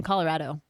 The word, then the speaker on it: Colorado: all it's we're all in agreement that she's Colorado. wrong, right? Okay, Colorado. Soft A. Colorado. Long A. Colorado.